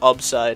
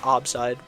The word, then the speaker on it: Upside: Oh yeah, fun fact, it's actually, the original way to pronounce it was Upside, not Obside. But that kind of just fell out the window because everyone kept calling me Obside.